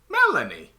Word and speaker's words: Melanie: You pronounce it Melanie? Melanie.